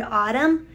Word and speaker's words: autumn: Even though the N is silent and we don't pronounce it, the N is always there. So just like the N is always there in the word autumn, we know that God